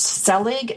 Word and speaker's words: Selig: of mastery you can find out more about Paul Selig it's very simple go to his website Paul PA ul his last name is pronounced Selig ste l IG com that's PA you LSE